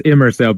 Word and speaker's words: Immersell: Yeah, it's Immersell, basically immersive selling.